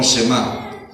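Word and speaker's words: שמע: se le conoce como una palabra que se pronuncia como shemá por la forma de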